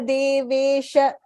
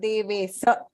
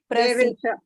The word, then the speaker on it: देवेश: Prasida Devesha. It's not Devesa. Devesha.